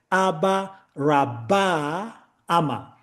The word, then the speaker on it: Abraham: to pronounce it as Aba Raba Amma. That ba in the middle was swallowed so that the name comes to us as Abraham and even in the